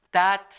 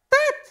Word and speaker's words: tat: o papá se dice tat tat tat es fácil de pronunciar tat tat es t a